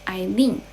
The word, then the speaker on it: Aileen: My name is pronounced Aileen.